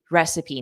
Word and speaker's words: recipe: And notice the pronunciation of recipe. Recipe. Recipe. Recipe. So, a long e at the end.